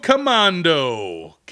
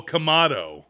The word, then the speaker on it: Kamado: Nezuko Commando. Like you're going commando? I don't see an N. Oh, Kamado.